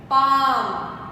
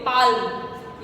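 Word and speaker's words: palm: पाम, कुछ लोग पाम होता है हथेली, कुछ लोग पाम को बोलते हैं पाल्म, ये गलत है, पाम बोला जाता है। एल साइलेंट है इसमें पूरी तरह।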